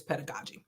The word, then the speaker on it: pedagogy: yeah and it's I should pronounce it right pedagogi it's p no is it pedagogi pedagogi pedagogi it's pedagogy okay so just pronouncing that right I always get in trouble